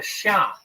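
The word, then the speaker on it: Xia: uh in Chinese history which is called the Sha uh that's spelled x a in the in the modern Western romanization system the pinion system of of spelling Chinese words the Sha uh the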